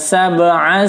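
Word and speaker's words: سَبْعَ: Fasawwahunna sab'a samawat. Sab ya, ba berharakat sukun, sab qalqalah.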